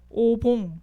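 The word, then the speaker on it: お盆: 그리고 이제 이거는 제가 다른 나라의 명절들도 한번 이제 이렇게 좀 찾아봤는데 첫 번째 있는 게 이제 오봉 혹은 이제 오본이라고도 발음하는데 어느 나라인지 아는 랩넌트?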